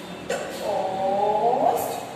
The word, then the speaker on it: toast: Toast, toast, toast, toast. Have you seen children? When I say toast, I took the sound of long O and the A is silent.